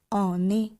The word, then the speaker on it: on est: এর ব্যবহার আমি আগের অংশে আপনাদের বললাম, সেটা কিন্তু বিভিন্ন সময় বিভিন্ন রকমই হতে পারে, এবং ও এন এর সঙ্গে ইএসটি একত্রে উচ্চারণ হবে অনে, অনে, অনে।